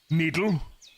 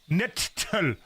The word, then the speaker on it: nettle: Needle. No, that's wrong. Nettle. Nettle. That's how it's pronounced.